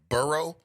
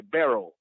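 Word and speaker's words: Burrow: were talking about Joe Barrow I think that I'm making his last name is it burro yeah yeah yeah you know I was just pronouncing it the French Way barrel you know because they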